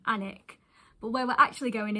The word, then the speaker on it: Alnwick: saying the name wrong, I've been saying Alnwick rather than 'Annick'.